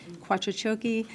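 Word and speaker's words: Quattrociocchi: common spelling last name is q-u-a-t-t-r-o-c-i-o-c-c-h-i Quattro choki is a hypocrisy pronunciation I'm the planning officer of the hate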